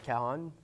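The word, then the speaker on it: cajón: le cas jean exactement ça s'écrit qu'agent mais on le prononce cajon parce qu'il se présente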